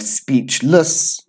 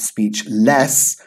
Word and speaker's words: speechless: correct - we have speechless yeah we have your welcome - we have speechless again we have the schwa sound here speechless it's not speech less it's speechless we have counselor don't